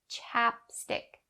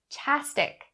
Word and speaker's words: chapstick: that is not correct you stop the sound and make it light chapstick chapstick but be careful and do not drop the sound completely don't say chastic chastic that's not correct so chapstick chapstick dab